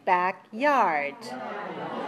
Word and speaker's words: backyard: got two syllables okay listen to the next word backyard how many syllables two syllables okay back yard where is the stress the second syllable right so backyard is